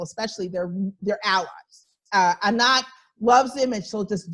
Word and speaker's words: Anat: and you'll see it i'm pronouncing it like you would say it in hebrew um but that's that's